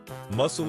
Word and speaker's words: muscle: The C is silent.